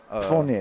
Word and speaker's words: Fournier: Fournier, that's how you say it. Yeah, Man, Fournier.